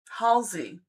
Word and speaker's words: Halsey: Adressa says, can I ask if the singer Hals? I will pronounce this correctly. Halsey.